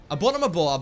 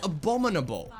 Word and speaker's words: abominable: Abonomable. Abonomable. Abonomable. I keep I keep mispronouncing the skin's name. I keep saying abonomable. It's abominable. Man, it's a difficult name.